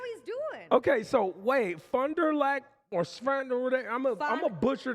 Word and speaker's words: Fond du Lac: Okay, so wait, Fond du Lac or Sfand, I'm a butcher the name of this city. Yep, Fond du Lac.